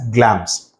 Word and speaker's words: Glamis: It's pronounced as Glamis.